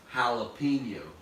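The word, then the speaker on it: jalapeño: H but guess what it's a Spanish word and the J in Spanish sounds like an H so it's actually it it's spelled with a j j' a no so so it actually if you if you sounded it out in English it would go shallow right but they're called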